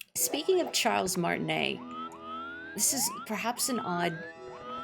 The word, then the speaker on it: Martinet: Um, I've always heard people say his name is Martinea, but When I played some years ago, uh, Bit Trip Runner 2, he's the narrator in that game, and he says, "I'm Charles Martinette."